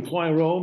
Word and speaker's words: Poirot: It's like Piorot. Is that how it's spelled? He's a Belgian detective. Hercule Poirot.